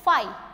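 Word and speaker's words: phi: तो यहाँ पे देखते हैं इम्पॉसिबल इवेंट किसे कहेंगे, the special subset फाइ। Guys इसको प्रोनाउंस किया जाता है फाइ, फाइ का मतलब होता है नल, एम्प्टी, खाली।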